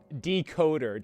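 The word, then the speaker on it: Dkoda: He spells it D-K-O-D-A, but because it's with an A, it's pronounced E-R. It has that English accent on it.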